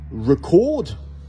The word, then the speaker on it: record: deux manières de prononcer si je dis record donc avec le son de chromanion sur la première syllabe je parle d'enregistrer quelque